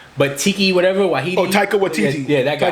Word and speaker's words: Taika Waititi: Oh, Taika Waititi. Yeah, that guy. Taika Waititi, yeah.